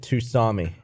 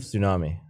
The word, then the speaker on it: tsunami: My English teacher pronounced it Tusami instead of tsunami.